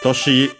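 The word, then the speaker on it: 年: Toshi, accent on the last mora, means year.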